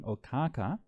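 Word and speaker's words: Okkāka: the solar lineage was King Okaka. This is the Pali pronunciation. The Sanskrit pronunciation is Ikshvaku, and Ikshvaku is derived from the word for sugar or sugar cane.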